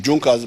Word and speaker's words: Junkers: But there was a business group in Prussia called Junkers. It's written Junkers, but they pronounce it as Junkers.